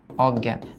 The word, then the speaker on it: অজ্ঞান: তারপর লেখো জ্ঞান অজ্ঞান নরমাল আমরা একটা নিয়ম জানি যে এই যুক্ত ব্যঞ্জনের আগে যদি অ থাকে অ এর উচ্চারণ ও এর মত হবে। বাট ও এর মতো তখনই হবে যখন এটা নেতিবাচক হবে না। বাট অজ্ঞান মানে তো জ্ঞান নাই। নেতিবাচক একটা উপসর্গ দ্যাটস হোয়াই এটা অ এর উচ্চারণ বহত ছিল।